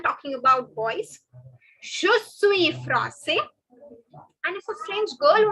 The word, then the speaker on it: français: The last S is not to be pronounced. This I am talking about boys. Je suis français.